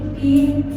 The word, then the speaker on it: been: Nah, terus kalimat positifnya ya, subjectek have or has diikuti been verb 3 ya. Tulisannya b e n ya bacanya bukan b ya be. Kalau band itu b a n d kalau ini be ya.